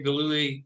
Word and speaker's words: Gillooly: for joining us dr gallowy um this has been great is it gloomy am i saying it right yeah that's pretty good actually okay yeah um yeah